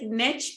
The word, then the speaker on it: niche: Well, and I like niche because it rhymes with rich, right?